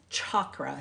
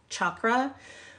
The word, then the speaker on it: chakra: discuss a a chakra or it's it's actually pronounced chakra CH H like chalk chakra when you go to a class and and